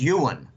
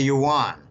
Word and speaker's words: yuan: are Chinese backgrounds and they say Jim the pronunciation is Ewan okay a lot of Americans call it the yuan I prefer to start